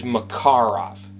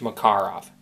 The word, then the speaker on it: Makarov: sometimes pronouncing Makarov I'm mispronouncing it the real pronunciation is Macar off that's how it should be pronounced i mispronounced all the time don't worry 90 90 some odd percent of people do its makar off that's the correct concluding correct pronunciation for that